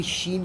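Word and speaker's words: ش: अब सीन शीन का मैं कॉन्सेप्ट देता हूँ आप लोगों को।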